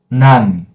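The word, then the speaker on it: 난: None. That's it. None. None. Good job. With N sound, you automatically close and don't open again.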